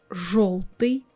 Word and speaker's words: жёлтый: After the letters zh, sh, c, we pronounce our I, ye, yo harder. So we replace them with their hard pair I, e, o. Like this we will have жить, желтый, жест. You see, жи, I'm not saying I, soft I, I'm saying I.